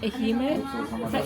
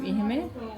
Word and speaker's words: Ehime: And specifically Ehime is that how you say it? Ehime.